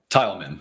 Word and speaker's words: Thielman: I don't think it's Thielman. Am I pronouncing that correctly? Tileman, thank you.